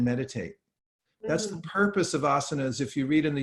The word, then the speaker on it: asanas: is actually historically asanas that we people call asan's nowadays it's actually pronounced asanas but they're these are a place where you